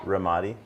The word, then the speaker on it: Ramadi: Ramadi.